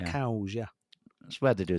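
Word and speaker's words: Cowes: some nice girls there c-o-w-e-s it's it's it's spelled cows yeah that's where they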